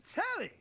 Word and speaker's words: Telly: I'm telly rhymes with jelly.